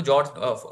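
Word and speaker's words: fjord: Norway में आप सीधे Google करना है ना देखना नर्स ऑफ़ जॉब ठीक है ना इसको जॉर्ज जॉर्ज बोलते हैं ध्यान रखना इसको जॉर्ज बोलते हैं एफ साइलेंट होता है इसमें तो जो जॉर्ज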